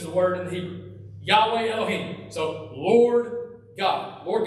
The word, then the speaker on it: Yahweh: At that time, the Lord God, so this is this word Yahweh, okay, which we don't know how to pronounce it, but we just say it Yahweh now.